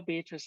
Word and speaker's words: Beatrice: but she knew this her name was indeed beatrice it had a certain flow three syllables and never just two thank you very much and so that's how beatrice and crack carry opens